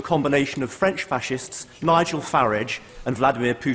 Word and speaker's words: Farage: of French fascists Nigel farage and Vladimir Putin I'm glad he takes the uh the English pronunciation of farage rather than the rather pony foreign sounding one that he seems to prefer I think that's a